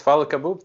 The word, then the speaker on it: Fadhel Kaboub: let me just make sure if i um pronounced your name correctly yes follow kaboob thank you thanks for having me fantastic great